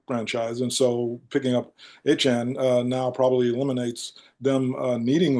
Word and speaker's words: Etienne: As I said, New Orleans before picking up Achan, however you pronounce it, since it's not Etienne anymore.